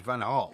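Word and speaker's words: van Gaal: else seems to be call I call him van G all right okay well you're entitled to call him whatever you like but the correct pronunciation is vanal he the do Man Steve call Louis vanal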